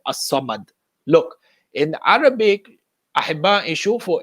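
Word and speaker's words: الصمد: The alif lam is silent in the pronunciation of the word as-samad.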